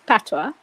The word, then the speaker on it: patois: Patois.